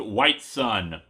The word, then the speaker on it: Whitsun: His name is Whitsun, which I'm sure is supposed to be pronounced White Sun.